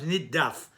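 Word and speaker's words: נִדָּף: Instead of nindaf, it becomes niddaf, a little easier to pronounce.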